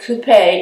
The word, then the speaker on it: coupe: the drink but my coops and some pronounce it Coupe but I say coop and if sometimes if I want to sound really fancy I'll say Coupe but you have to have